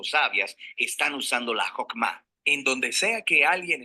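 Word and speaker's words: חכמה: hacemos Qué es esta fuerza en hebreo se pronuncia hokma y usualmente se traduce al español como sabiduría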